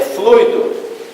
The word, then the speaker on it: fluido: suas províncias tá tudo tá é fluido pronuncia-se confirma verbal 18 melo cuidado com força no